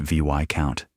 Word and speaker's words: Viscount: And yes, it's pronounced Viscount. The S is silent. Don't let it trick you.